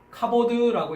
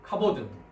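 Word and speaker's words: כָּבוֹד: 그래서 카보드라고 읽습니다. 카보드.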